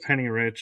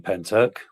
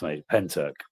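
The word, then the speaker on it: Pentyrch: I'm thinking that's pronounced Penny Rich.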